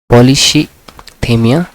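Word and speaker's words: polycythemia: ठीक है, इसका प्रोनाउंसिएशन आप देख लीजिएगा, POLYCETHEMIA, पॉलीसीथेमिया।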